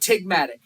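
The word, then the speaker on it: ptygma: tight little folds called tigma you don't even pronounce the P all right these other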